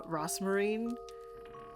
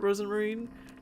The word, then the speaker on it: Rosemarine: got used to like saying uh rosmarine instead of rosemarine but I refuse to get her name wrong cuz I feel bad um so I always just pronounce it Rosen Marine cuz that's her name